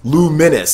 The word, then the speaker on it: Lumines: the original luminous and is pronounced luminous so it seems like I'm pronouncing that right they say L oh